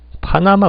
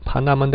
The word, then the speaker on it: Panama: 그런 발음을 적용해봤을 때 파나마인데 액센트가 이름절에 간단 말이죠.